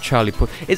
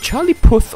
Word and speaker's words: Charlie Puth: Like Charlie Puth. Okay, is it Charlie Puth or Charlie Put? This has bothered me for many centuries. I've always pronounced it Charlie Puth.